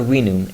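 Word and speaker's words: vinum: The letter V in Latin is pronounced softly similar to a W in English.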